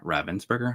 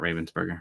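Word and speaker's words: Ravensburger: So, Lorana is being distributed produced by Ravensburgger, I believe is the correct pronunciation, not Ravensburgger.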